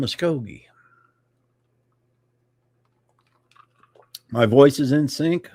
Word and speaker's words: Muskogee: Nobody can pronounce Muskogee. I can. Just listen to the song, "I'm just an Okie from Muskogee."